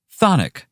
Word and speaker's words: chthonic: Well, the first C is silent. And not to mention the first H. Whatever. Thonic means having to do